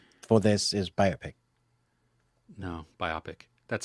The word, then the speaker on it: biopic: not the short for this is biopic no biopic that's how you pronounce the words biopic yeah cool cool Reuben